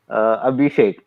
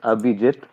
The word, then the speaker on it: Abhijit: They look at my name and they say, Abhishek. I'm like, the letters are also not there. I don't know. So how do you pronounce it again? It's Abhijit.